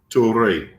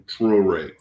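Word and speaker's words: Traoré: His name is Ibrahim Toure. Ibrahim Traore.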